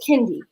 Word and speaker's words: Kendy: gonna have a problem her name is kendy and i need everyone to pronounce her name the right way because she's been a year and a half now we have been patient he has corrected every last one of y'all but y'all will not continue to call my child candy okay that's something that you eat that is not her name so i get an